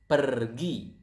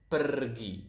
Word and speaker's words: pergi: If you guys speak Spanish out there, I think you will notice that Indonesian pronounce the R quite similar to the Spanish language. To the Spanish. So it's pergi. Again, pergi.